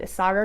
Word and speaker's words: Isager: for this are isager I've decided I'm going to pronounce it isager because I've heard like four people say it that way now on like other knitting podcasts that I've listened to